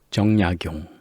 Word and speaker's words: 정약용: 정약용, 정혜인 이렇게 읽는 겁니다.